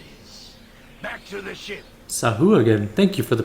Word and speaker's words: Sahuagin: Sah again. I did not anticipate this. Back to the ship. Sahu again. Thank you for the pronunciation lesson.